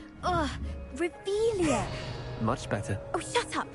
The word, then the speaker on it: Revelio: Rebellion. Saying it wrong. Ugh, Revelia.